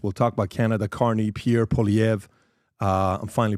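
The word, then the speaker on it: Pierre Poilievre: Carne Pierre Polv. Uh I'm finally pronouncing it correctly.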